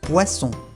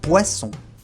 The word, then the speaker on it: poisson: Y finalmente, la doble S siempre se pronuncia como S, S. Por ejemplo, un poisson, un pez. Un poisson.